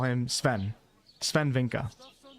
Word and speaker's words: Swen: You'll hear other people call him Swen. I think both can be right, but I always like to do the pronunciation that the people use from the area that they're pronouncing it.